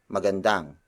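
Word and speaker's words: maganda: we skip to the second sentence starting with McGann dan McGann Dan McGann Dan McGann Dan is spelled as M a G a and D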